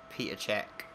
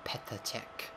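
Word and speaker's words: Petr Čech: him neuer and um peter check or petatech if you want the correct pronunciation um especially on ultimate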